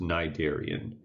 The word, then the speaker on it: cnidarian: as the CN n typically the first letter is silent so it's pronounced cnidarian so just just cut